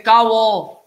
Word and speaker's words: kavo: They cannot say kaulo, they say kavo in Bardeshi Konkani. Kavo, K-A-V-O.